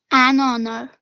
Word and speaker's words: honor: Honor. Is it a honor or an honor? Which is correct? An honor. An honor.